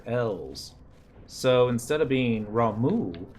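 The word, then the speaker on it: Ramuh: for this dent but I've learned that Roma is actually pounced Ramu or a Texan we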